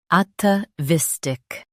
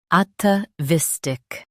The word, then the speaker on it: atavistic: Both US and UK have the same pronunciation of this word, ATAVISTIC. Now read the syllables shown on the screen naturally. ATAVISTIC, ATAVISTIC. Stress vis and keep at soft.